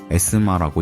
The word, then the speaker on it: ESMA: 그 경기장에서 700m 거리 해군기계학교 ESMA, 에스마라고 읽습니다.